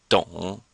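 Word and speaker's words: 懂: which means to work so it sounds just the same except we have a d before it so it comes out don't and this is a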